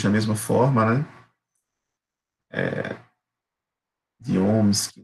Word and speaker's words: ohm: A unidade é o ohm, pronuncia assim mesmo, ohm, ohms, E a letrinha que a gente vai usar o R mesmo, de resistência.